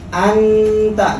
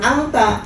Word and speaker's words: anta: Anta, jadi bukan angta. Iya.